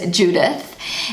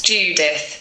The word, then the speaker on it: Judith: So the Ju part in the English pronunciation is you in the German pronunciation, and the th at the end is a t in the German pronunciation.